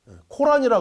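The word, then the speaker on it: القرآن: 중요한 요소는이 꾸란 있니다 꾸란 코란이 우리가 부르죠 코란은 영어식 발음이고 아랍어는 꾸란 있니다이 꾸라는 이슬람의 제일 경전입니다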